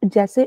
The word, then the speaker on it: je: आता है that is जे ई एंड इट is pronounced as ज नेक्स्ट टी यू दिस